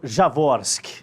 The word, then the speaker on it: Jaworski: Jaworski. Falei certa a pronúncia aqui? Falou certinho.